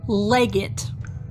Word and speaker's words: Legate: So it's L-E-G-A-T. Do you know how you pronounce that? Legate.